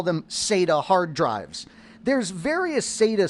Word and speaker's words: SATA: to replace ide and that's sata that's how we pronounce s-a-t-a notice here's a sata